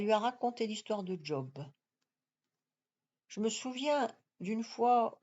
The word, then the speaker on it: job: mon tour de lecture au lieu de prononcer job j'ai dit job je l'ai prononcé à l'anglaise et cette vieille folle